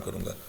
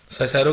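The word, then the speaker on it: Cicero: तो अपने लिए फ़ायदा ढूंढे बगैर मैं इस पे काम करूँगा. साइसेरो कहता है, कुछ लोग इसको कैरो भी पढ़ते हैं, पुरानी प्रोनाउंसिएशन है.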